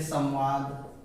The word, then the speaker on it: संवाद: करते हैं संयम, तो ये कुछ म का उच्चारण साउंड लिए रहता है, ये अनुस्वार ही होता है। ये म का क्या देता है, तो उच्चारण हम लोग को म का देता है, संवाद।